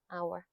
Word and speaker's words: hour: 한시간, 2두시간, 세시간 나타낼 때 쓰는 H는 무음이기 때문에 hour이라고 발음을 해 주셔야 돼요. h 빼니까 얘 남잖아. Hour.